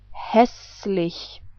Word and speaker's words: hässlich: If you remember, this was the German umlaut Ä. So we pronounce this whole word like hässlich.